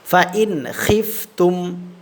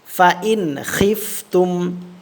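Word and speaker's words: فإن خفتم: এই নুন সাকিনে কোন গুন্না করবো না ফন খিফতুম এভাবে আবার পড়েন ফন খিফতুম আর খটা কিন্তু খলকের শেষ ভাগ থেকে উচ্চারণ হবে হ্যা ফনিফতুম আবার পড়েন ফনফতুম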